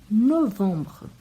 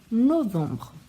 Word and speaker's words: novembre: Novembre. Então, o EM tem som de ON e o E no final não é pronunciado. Novembre.